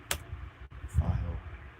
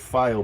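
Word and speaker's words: Pfeil: file. Get on with it. Thank you. No, it's not how you spell it, is it?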